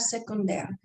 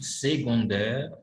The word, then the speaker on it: secondaire: Le personnage principal, un personnage secondaire, un héros, un premier rôle, un second rôle. Les amis, les ennemis. Excellent. Attention, on dit secondaire en second. C se prononce comme un G.